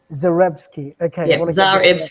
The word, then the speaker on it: Zarebski: you say your surname zorebski zarebski just exactly how it's spelled zerevsky okay oh good oh